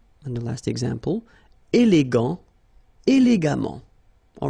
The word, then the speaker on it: élégamment: And the last example, élégant, élégamment. All right, so let's repeat them one more time. Patient, patiemment. Récent, récemment. Suffisant, suffisamment. Élégant, élégamment.